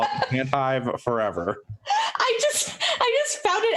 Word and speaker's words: Tantive: It's actually pronounced Tantive.